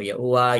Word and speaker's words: Yahuwah: sa pangalan ni Abba Yahuwah, Yad, He, Uwa, He, or YHUH. Na kung ating pong bibigkasin, Ya, U, A. Yahuwah.